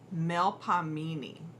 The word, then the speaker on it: Melpomene: So, pronounced more or less, Melpomene.